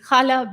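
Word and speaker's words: challah: and there's something else that or likes baking chala bread did i pronounce that right yes okay and cooking other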